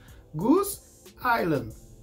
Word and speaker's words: Goose Island: this name "Goose Island" you pronounce without reproducing that "s" of the word "Island" so you will combine these two words "Gúz ailand" will speak at once